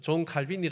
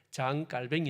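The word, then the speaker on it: Jean Calvin: 갈빈 선생 하는 사람이 이 프랑스의 원래 발음 자기 나라 발음으로 하면은 장 깔뱅 있데이 장 깔뱅 어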